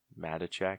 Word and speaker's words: Matichak: Is that how you think you pronounce it? Matichak, yeah.